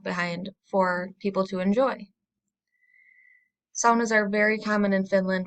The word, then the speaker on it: sauna: so I'm going to be using the word sauna which is a finished pronunciation in American culture it's usually pronounced sauna so saunas were first invented in Finland over